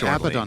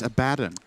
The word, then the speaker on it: Abaddon: Abaddon not level 6. Good. But he will be shortly. You said Abaddon again. It's Abaddon. You had the chance to correct it.